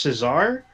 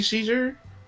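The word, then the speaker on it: César: won the best actor i believe it's pronounced cesar it could be caesar uh i don't speak french uh it is the french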